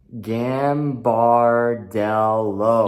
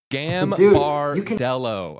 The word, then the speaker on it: Gambardello: Gambardello. You got it right, TJ. Hey. Gambardello.